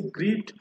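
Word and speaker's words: Grete: ওকে, next রয়েছে গ্রিট সামসা। গ্রিট সামসা হচ্ছে গ্রেগরের বোন, গ্রেট বা গ্রিটে বললে ভুল হবে না, বা যেটা আপনারা উচ্চারণ করবে গ্রেট সামসা।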